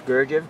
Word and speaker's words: Gurdjieff: Yes, Gurdjieff.